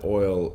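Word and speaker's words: Oyl: multiple iterations yeah uh oil like it's oil there's oil in coffee um so it's spelled o y l um you know we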